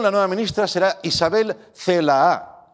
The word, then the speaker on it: Celaá: nueva ministra será isabel celaá cuidado no se la tela con dos as y acento en la segunda bien por pedro sánchez